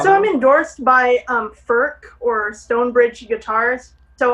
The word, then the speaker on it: Furch: like people would say ferch which i did at one point but i believe it's pronounced ferc like with a k at the end kind of so they're amazing amazing